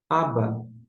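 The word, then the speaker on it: אבא: Não, porque B com A fica 2B e o A, o Alf é mudo, não é para T. Então, em termos de pronúncia, você vai pronunciar aba. Aba.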